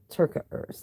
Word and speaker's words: Terkeurst: Terkeurst.